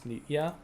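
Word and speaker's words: Nitya: Make sure I'm pronouncing it right. It's I'm pretty sure it's Nitia.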